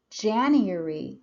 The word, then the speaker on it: January: So for example, in January, we have the stress on the first syllable.